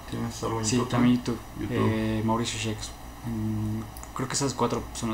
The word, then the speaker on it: Shcks: Facebook, Mauricio Schex, así como se, no como se escucha, ¿no? Por no, estar igual de forma New y Saitán van a estar dejando ahí sus, sí. Cómo se escribe, pero es Mauricio Schex. Schex, S-H-C-K-S, okay.